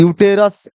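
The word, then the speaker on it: uterus: यूटेरस ऐसे लिखाएगा यूटेरस।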